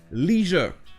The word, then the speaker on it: leisure: Ou alors vous avez aussi la prononciation américaine du mot leisure. Pareil, c'est EI, alors que d'après la règle, ça devrait être IE, et en anglais britannique, ça se prononce leisure.